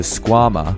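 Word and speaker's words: Skwama: The Squama, or rhymes with your mama, is a high-performance Velcro slipper aimed at getting you boulderers up your sickest project.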